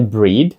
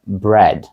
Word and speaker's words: bread: ви думаєте воно вимовляється це не breed це bread bread означає хліб тепер погляньте на наступне